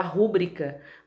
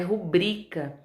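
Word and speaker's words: rubrica: digo pública na Câmara a gente falar chama de falar rubrika mas o correto é rubrika obriga seniores todas essas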